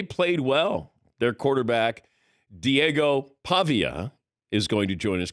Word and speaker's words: Pavia: been yelling at me you said pava it's Pavia I could see why you would say that I've heard mispronunciation so we checked with Vanderbilt and it's supposedly the first syllable is what you ask okay fair enough